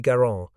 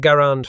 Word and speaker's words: Garand: Garon, a farmer who struggled to provide for his large family in the harsh Quebec climate. His last name rhymed with errand, not grand, a pronunciation confirmed by